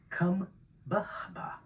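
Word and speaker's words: Kambaba: Kumbaba is pronounced Kumbaba.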